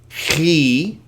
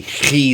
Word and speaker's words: chi: Now you'll notice I sort of spit when I make the chi sound because it's supposed to be aspirated, meaning that it's not a k like k, but it's like like in German.